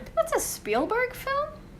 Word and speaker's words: Spielberg: strangling the actor and the director Steven Spiel Steelberg. Is that how you say his name? Spielberg.